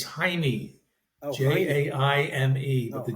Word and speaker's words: Jaime: Jaime. J's are not pronounced in Spanish. Jaime? So Jaime. Jaime? Jaime. It sounds like Heine.